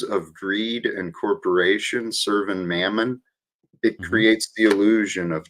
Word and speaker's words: mammon: It's mammon. Mammon, not mammoth, but mammon.